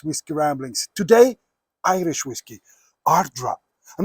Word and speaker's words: Ardara: single mold heavily peted Ardra. That's how you pronounce it. Ardra.